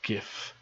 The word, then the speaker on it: GIF: Hoffman you pronounce it gif it's spelt with a G it's gif and it's graphics something